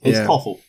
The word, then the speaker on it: Thoralf: Oh God, how do you pronounce that? Sorry. I is just it call him Sever or something? Yeah, it's Toffel.